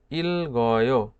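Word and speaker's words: 읽어: উচ্চারণ করছি কেন করছি নিচে জোড়াবাচ্ছিমের পরে যদি ইয়ং থাকে তাহলে এই জোড়াবাচ্ছিম থেকে একটি উপরের দিকে উঠে যাবে তাহলে এই গিয়েটা উপরে উঠে যেয়ে কিভাবে উচ্চারিত হচ্ছে ইলগয় ইলগয় ইলগয় অর্থ পড়ি আশা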